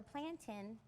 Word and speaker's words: plantain: laugh a lot because everyone pronounces it the way it's spelled. I was going to say, is that a regional thing? Because I would have said plantain.